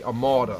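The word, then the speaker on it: Amauta: a ma amalda amalda a-m-a-u-t-a amalda i think that's how it's pronounced too a mou it's not a malta it would be a malta because it's a you i'm guessing i mean you know i could be terribly wrong on the name but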